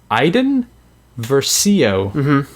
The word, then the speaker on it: Iden Versio: story because I need to make sure I pronounce it correctly. Iden Versio.